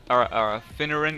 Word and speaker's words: Finneran: Finneran, yep, that's right. I pronounced that correctly.